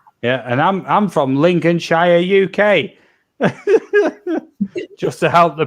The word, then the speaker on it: Lincolnshire: he's for me yeah and I'm I'm from Lincoln Shire UK just to help the pronunciation of Lincolnshire UK in Amanda Australia or